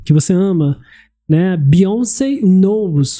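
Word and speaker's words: Knowles: o nome da beyonc Beyonce Knows k n o Ah e w l não LW e s nos que pronuncia-se soa da mesma forma que nos de saber ela sabe então She knows Shaw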